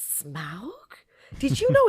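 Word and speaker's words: Smaug: but everyone was going did you know it's smoke did you know it's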